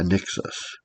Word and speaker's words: Anixus: It's a n x a n i x a s. a n i Anixus. It's how I pronounce it.